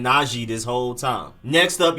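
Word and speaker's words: Najee: back na g harris naji harris and apparently it's not g not naji najib naji harris i've been saying naji this whole time next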